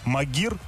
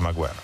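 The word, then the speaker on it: Maguire: А тем временем защитник «Халл-Сити» Гарри Магуайр, которого, кстати, некоторые комментаторы называют «Магир». Я даже один раз назвал. Если это Камечек. Было один матч, когда, так сказать, да. Кстати, есть два варианта произношения, но это долгая история, так сказать. Но правильно все-таки Магуайр.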